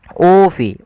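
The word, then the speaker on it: أوفوا: Di sini ada hamzah berharakat dhammah bertemu dengan huruf mad, yaitu ufi. Ufi panjangnya adalah 2 harakat.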